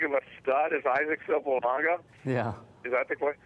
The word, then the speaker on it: Sopoaga: Because everybody that covers the league pronounces his name Sopoaga, okay? Okay. In Samoan, that's not the way it's pronounced. Imagine there's an N before the G.